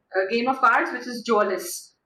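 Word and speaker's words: mjölis: Game of cards, which is Jolis. Mjolis, M is silent.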